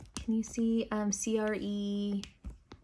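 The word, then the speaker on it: crème: can you see um c-r-e-m-e kind of like not cream like creme um if that oil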